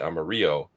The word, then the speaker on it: Amarillo: Armarillo is how I believe this is pronounced, but I would think the Spanish pronunciation would be Amarillo.